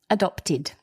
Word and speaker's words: adopted: a past participle and because the word adopt ends in a t which is a dental consonant we pronounce the e d id adopted there's another word in